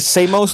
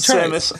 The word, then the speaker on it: Samus: Is that the Samos do that? Samos? That was one Samos. time I mispronounced. I'm not even going. Say to. it. Move on. No, try it. Samus.